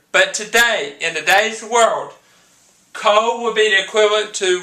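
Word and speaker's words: kohl: Khole, the person, is spelled C-O-L-E. Khole in ancient Egypt is spelled K-O-H-L. They're 2 different. Khole, C-O-L-E, Khole, K-O-H-L.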